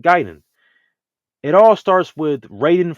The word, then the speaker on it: Gaiden: more of a te why people say you know gayen instead of ging it all starts with